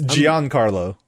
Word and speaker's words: Giancarlo: already played Mojo yeah you're all saying his name wrong by the way yeah what is it it's Giancarlo Giancarlo Esposito that's the name